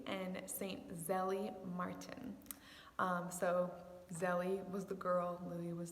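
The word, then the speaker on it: Zélie: saint zelie martin so zelly was the girl louie was the boy their french name so they might kind of be hard to say some people pronounce her name zaylee but i especially love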